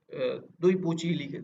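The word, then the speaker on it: 对不起: तो ये डी को जो है ना वो प्रोनाउंसिएट करते हैं दुई, मतलब दु दु दुई। अब जैसे ये दुई पूची लिखा हुआ है, ठीक है?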